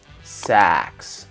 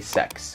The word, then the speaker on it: sax: a little pronunciation tip if you want to talk about a saxophone you want to drop your jaw sex because if you don't you're gonna say sex and that's a different word classical Jazz sex and